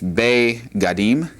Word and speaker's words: begadim: It's kind of hard to see the dagesh there, but it's there and it's also here. So we're not ve, but it's begadim.